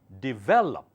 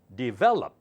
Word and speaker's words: develop: It's called develop. D, gentle, well up. Develop. Do not say develop. That sounds wrong, okay?